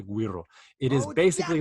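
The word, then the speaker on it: güiro: going with is the Guido GUI are oh and there some people pronounce it differently but if you want to pronounce a right it's the Guido it is basically like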